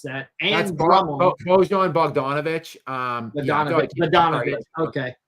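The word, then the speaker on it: Bogdanović: Um Badonovich. Okay. See, it's that G that threw me off. If there was no G, I would have said Bodon. It's all the silent letters that throw me off.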